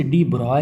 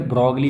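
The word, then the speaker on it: de Broglie: ही ऐसी है कि लोग प्रॉपर स्पेलिंग को लेकर ब्रॉली बोल देते हैं लेकिन सही पढ़ना हो तो लुईस डी ब्रॉय ठीक है तो इनका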